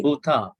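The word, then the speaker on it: bhūta: Bhuta. Right? Tasmahi Bhuta. Don't try to just shorten it.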